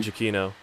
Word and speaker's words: Giacchino: Michael, how do you pronounce his name? Giacchino.